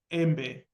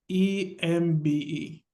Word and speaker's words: embe: in Swahili, we call it embe. Oh, how do I spell that? EMBE.